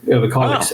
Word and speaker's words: Överkalix: So Överkalix, and you pronounced the name very good, actually. Överkalix, excellent, yeah.